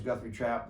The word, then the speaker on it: Guthrie Trapp: uh my name is guthrie trap the uh the first p is silent and anyway so uh